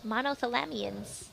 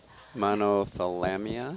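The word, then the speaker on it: Monothalamea: Monothalamia? I would say monothalamia. Monothalamia. You know what's fun about Latin? It's a dead language, so the pronunciation is variable.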